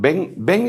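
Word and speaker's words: בן: a quién le llaman ven es una palabra en hebreo que quiere decir hijos en masculino ve grande e n si se pronuncia porque ellos no tienen b grande como la nuestra ven Elohim hijos de Dios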